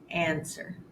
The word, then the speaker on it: answer: ring wreck right and SW words where you only hear the S sound answer sword take a look at these words in practice 76.